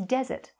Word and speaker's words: desert: And the other one is desert. Desert. Yeah, with the stress at the beginning.